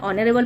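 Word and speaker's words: honorable: Okay, N ऑनरेबल जॉब, सो यहाँ एच तो silent है ही है, क्या पढ़ रहे हैं, ऑनरेबल पढ़ रहे हैं, तो एन लगाएंगे।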